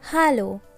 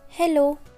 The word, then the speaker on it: Hallo: There is a difference between English and German pronunciation. Please note it's Hallo and not Hello.